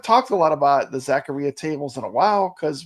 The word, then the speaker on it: Zaccaria: on that games uh Jason says it actually does rhyme with diarrhea Zacharia am I saying it right Jason Zacharia so it is Zacharia Zacharia Zacharia Zacharia not